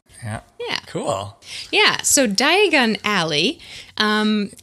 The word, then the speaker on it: Diagon Alley: yeah cool yeah so diagon alley um if you say it uh fast or with the emphasis on the other syllable it sounds like diagonally oh of course of course yes diagon alley diagonally which is appropriate